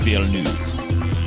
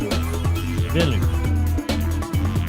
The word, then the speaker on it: Villeneuve: Because Denis Villeneuve is a French guy. French has language ties, being a root Latin language with Spanish, and the Spanish version would be Denis Villanueva, but the French pronunciation is Denis Villeneuve, and you can look it up.